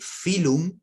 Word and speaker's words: phylum: para de filo porque phylum si el filón se pronuncia con una letra f pero se escribe con una p bien es ph y